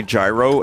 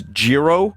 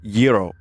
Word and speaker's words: gyro: That would be a problem because I say gyro and it's it's Jirro or Yro apparently. So, I'm already like not saying the word right. So, I'd probably rhyme it with the wrong word, too.